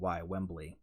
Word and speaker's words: Wembley: Wembley, Wembley.